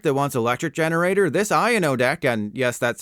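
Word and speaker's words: Iono: typical lightning deck that wants electric generator this IO deck and yes that's how you pronounce it according to the anime prefers Superior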